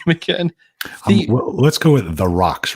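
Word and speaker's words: Theroux: say your name again let's go with of the rocks right now the rocks yes so it's it's th er o ux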